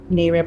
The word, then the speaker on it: NAREB: NAREB created the opportunity for realtors.